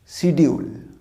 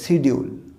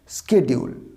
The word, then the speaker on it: schedule: এটা উচ্চারণটা শিডিউল না, এর দুটো উচ্চারণ আছে, এটা খেয়াল করবে, একটা ব্রিটিশ একটা আমেরিকান। ব্রিটিশ উচ্চারণটা হচ্ছে শেডিউল, নট দ্য শিডিউল, উচ্চারণটা শেডিউল, আর আমেরিকানের প্রোনাউন্সিয়েশন হচ্ছে স্কেডিউল। আমেরিকান উচ্চারণটা কী হবে? স্কেডিউল।